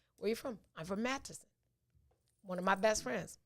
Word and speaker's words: Madison: was saying it wrong but it's madison so yeah a great turnout for that a great turnout for that event so that was that was super dope from madison man we are not saying all those syllables yeah yep matt tisson we we do say madsen yeah he's from madison